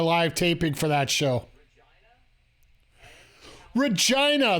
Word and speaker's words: Regina: Regina, the city that rhymes with fun.